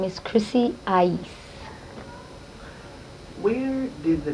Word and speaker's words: I-eece: have trouble pronouncing it they're like or or you know something weird but i like it because it's something somebody will always remember because they go what's that girl's name she's got that really really weird difficult name to pronounce and it's ice for those who don't know how to pronounce it where were you